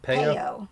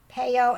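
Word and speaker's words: Peyo: Payo? Payo, P-E-Y-O. That's how I've always pronounced it.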